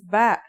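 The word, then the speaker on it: ب: in this lesson don't our first letter of this lesson is ba and yeah it makes a b sound you can remember this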